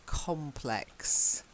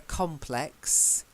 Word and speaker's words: complex: Okay, and the word is complex. Okay, so the noun is a complex and the adjective is complex. So there's slightly different stress. Same pronunciation, different stress.